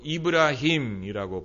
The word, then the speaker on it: 이브라힘: 그런데 이슬람은 아브라함까지 인정하는데 그들은 아브라함이라고 발음하지 않고 이브라힘이라고 발음하지 그 터 빛 나가는